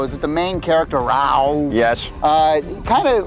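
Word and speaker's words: Rau: His name is Rao. And Rao? Rao. How do you spell that?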